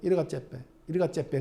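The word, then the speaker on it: Yirgacheffe: 우리는 예가체프라고 했는데 걔는 이르가체페.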